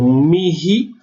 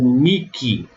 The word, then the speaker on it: mihi: Então, mihi ou miki, eu posso pronunciar dessas duas formas, são duas exceções à aspiração do H.